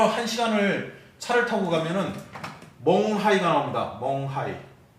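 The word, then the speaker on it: 勐海: 징홍에서 쭉 1시간을 차를 타고 가면은 멍하이가 나옵니다. 멍하이. 우리식 발음으로는 맹해죠.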